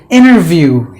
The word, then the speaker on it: interview: is silent and then the word interview interview interview even there is another word called the inner view we talk about sometimes both the words are pronounced exactly the same way but different meanings and